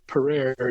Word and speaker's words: Pereire: And my favorite rose is in that group, and it's called Madame Isaac Pereira. It has a somewhat complex history. but Madame Isaac Pereire is usually how you hear it pronounced here.